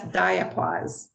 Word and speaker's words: diapause: you a new term right here and that's diapause it's spelled d-i-a-paws diapause most of the monarchs that